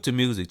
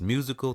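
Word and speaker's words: Musiq: Music Child, which brought wonderful, great music.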